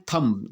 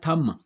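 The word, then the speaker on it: thumb: थंब, जबकि इसका उच्चारण क्या होता है? थम। थम, म बी साइलेंट है।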